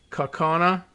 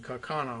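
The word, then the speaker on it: Kaukauna: i guess so right coconut i guess it's k-a-u-k-a-u-n-a so it sounds like what's going on outside the blue jays are screaming kakana over and over anyway uh majority leader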